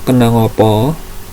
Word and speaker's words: kena apa: Basa Jawane ngopo atau kena ngopo, tulisannya ngapa atau kena apa, tapi cara membacanya ngopo atau kena ngopo, kena ngopo.